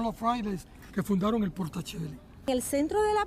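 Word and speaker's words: Porta Coeli: Nosotros decimos Portacelli porque es en latín, y ese era el lenguaje que usaba la Iglesia Católica para ese tiempo.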